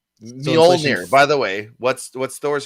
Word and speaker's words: Mjolnir: It's MJ. Right. O with 2 dots on it. Yeah. L-N-I-R. Yeah, Mjolnir. Mjolnir.